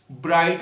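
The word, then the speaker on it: bright: Word के दरमियान में, अगर किसी वर्ड के दरमियान में GH इकट्ठा आ जाए तो उनकी आवाज नहीं आती, वो साइलेंट हो जाते, साकन हो जाते हैं। इसकी एग्जांपल है जैसे कि ब्राइट होता है, लाइट होता है, माइट।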